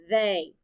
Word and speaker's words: they: The letters T-H stand for the sound V. The letters E-Y stand for the long A sound.